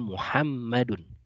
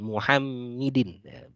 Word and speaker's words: Muhammadun: diperhatikan cara membacanya ya kalau ada mim ha mim Dal seperti ini maka membacanya adalah Muhammadun kan Nih imedeen atau bukan muhammidin jadi kalau hurufnya seperti ini makan bacanya dalam muhammadu jadi ini kunci membaca